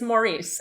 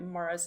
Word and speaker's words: Maurice: Um, it's it drives me insane that the English pronounce it like that because it's like it's Maurice and you read it as Maurice. You can't say it, but they're always like Morris.